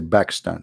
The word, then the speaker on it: Pakistan: when we say we don't say Pakistan we say back stand back Pakistan because an Arabic we don't have P you know we have a B not P so always a man